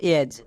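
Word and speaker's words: edge: ডি কখন silent থাকে এর ক্ষেত্রে নিয়ম হচ্ছে ডি এর পরে যদি জি দেখতে পাই তখন ডি সাইলেন্ট থাকবে এটা খুবই সিম্পল যেমন দেখো এজ এখানে ডি আছে এবং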